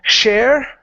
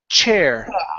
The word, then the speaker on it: chair: So instead of saying share, it's going to be chair. You don't have a chair to sit on. Chair. Pronounce that good CH.